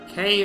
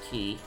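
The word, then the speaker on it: Cay: I said K, it's pronounced key. It just looks like K.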